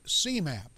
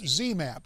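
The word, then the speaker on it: ZMapp: experimental drug is called cmap uh zmap get letter right yeah but see you said X I mispronounced it C now it's zmap so we'll both get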